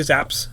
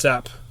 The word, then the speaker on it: Zapp: Don't say Zaps. It's Zapp. But if you can divide yourself, and you're here and in Manalapan, you're at Zaps.